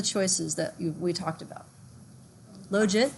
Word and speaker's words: logit: that we talked about logic that's most common hmm rhymes with legit probit the one that